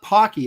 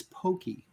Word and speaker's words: Pocky: says come on Aaron I told you to pronounced Pokey or Pokey haha so it's not Pocky it's Pokey oh so Pokey pleasure